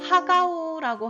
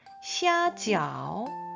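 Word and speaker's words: 虾饺: 자, 그럼 다시 교자로 돌아와서 우리 이번에는 하가우, 우리말로는 하가우라고 하는 이 만두를 한번 볼게요. 자, 중국식 발음으로는 시아지아오, 시아지아오라고 발음을 해요.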